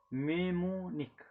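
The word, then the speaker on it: mnemonic: यहाँ पे N silent है, मेमोनिक। क्या बोलते हैं, मेमोनिक। एन जो है ये साइलेंट है।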